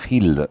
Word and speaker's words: Gild: Pronuncié bien, Hild, ¿verdad?